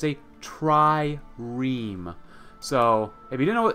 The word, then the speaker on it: trireme: Someone helped me yesterday pronounce this correctly. It's a trireme.